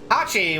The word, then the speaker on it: hachi: it's a japanese thing hachi which is the number for eight the word how you pronounce eight in japanese is similar to apache which is the sound effect for clapping so they type